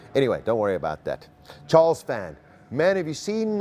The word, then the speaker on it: Charles: a Charles L clerk it is Charles he yako it's Charles cuz it's amazing how it's spelled it's spelled Charles incredible okay so we